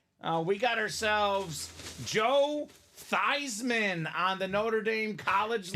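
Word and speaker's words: Theismann: thyman was in college his name was actually pronounced Joe th really Joe theeman wow and the Notre Dame PR staff wanted him to win the Heisman so they said let's change your name to thyman so it's thyman for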